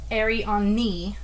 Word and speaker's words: Ariani: I might be pronouncing that wrong, but it's Arianni. Ariani. When I looked up, because I was like, how do you say that? So I did look up on Google, and it did say Ariani.